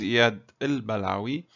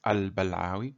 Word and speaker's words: Balawi: to us well actually my name is il balawi if you speak arabic you can pronounce it as al balawi my family name however what is my